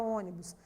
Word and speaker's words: ônibus: modelos a palavra ônibus percebam que ela leva um assento na antepenúltima sílaba porque essa antepenúltima sílaba também como quando nós pronunciamos a palavra ônibus ela é a sílaba mais intensa né e a palavra